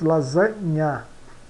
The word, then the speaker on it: lasagna: GN é pronunciado como o NH. Por exemplo, lasagna, lasagna, pronunciamos lasagna, lasagna.